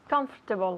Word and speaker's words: comfortable: wear something comfortable comfortable comfortable yeah three syllables comfortable comfortable repeat the